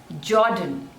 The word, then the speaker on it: Jordan: pan Japan Japan next is Jordan Jordan suja the stress is on the first label jaw done Jordan this one is Kazakhstan